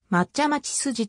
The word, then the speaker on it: 松屋町筋: の相性長命の松屋町と同様に抹茶町筋と発音されることが多い区間